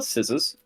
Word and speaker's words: scissors: How do you spell scissors? SCISSORS. SSORS. Right, I always forget there's a C like after the first S How?